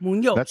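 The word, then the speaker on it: Muñoz: That's Munoz. actually the right way to say it, like Munoz. Like it's a tilde over the end, which I don't use. That makes it more complicated, but it's kind of flows.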